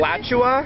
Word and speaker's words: Alachua: We are now entering Alachua County. That's where Gainesville is. How is that pronounced correctly? Alachua. Oh, it's Alachua? Alachua. Alachua? I don't know. Oh, it's an Indian word.